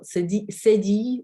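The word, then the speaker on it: cédille: Spelled with a C, with a cedille, or cedille it is in French, or cedilla.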